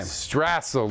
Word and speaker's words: Strassel: Strassel, like tassel.